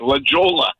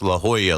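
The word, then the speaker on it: La Jolla: And then uh Dave text me and say hey it's it's pronounced La Hoya like the Georgetown Hoya.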